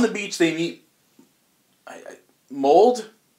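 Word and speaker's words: Mould: beach they eat i mold it's m-o-u-l-d but i think it's pronounced mold sounds french he's an old man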